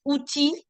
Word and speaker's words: outil: There is an exception to it with words such as outil and fee. Here, L is silent even if we don't have the L before it.